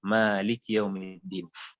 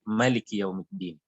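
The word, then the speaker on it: مالك يوم الدين: dan dalam qiraah ini ayat keempat itu dibacanya panjang, Maliki Yaumiddin. Jadi kalau qiraat itu bacanya dengan pendek, Maliki Yaumiddin.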